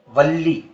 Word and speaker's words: वल्ली: दरअसल यहां वली अरबी वाला वली नहीं है, यह संस्कृत का शब्द है और इसका उच्चारण है वल्ली।